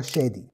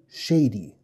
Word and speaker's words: شادي: معانا النهارده اللي هو شادي شادي نطقه بالعربي عادي خالص زي ما انت سمعته كده انما المشكله لو صاحب الاسم سافر لدوله بتتكلم انجلش وكتب اسمه لحد وطلب منه ينطقه ب نطقهم المايع اللي احنا متعودين عليها ينطق يقول شيدي شيدي شيدي دي كلمه للاسف بنفس السبيلين